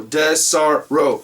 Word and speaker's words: Desarro: Oh, Desarro. Okay, so there's no R, but there's 2 R's next side by side.